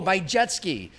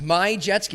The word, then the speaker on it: Majewski: Majewski It's my jet ski. That's what. That's how it's pronounced. Vitztham told us. That's easy. My jet ski. Like a jet ski.